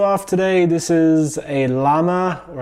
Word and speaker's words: Llama: today this is a llama or I think in the Spanish it's pronounced Zama this is a 22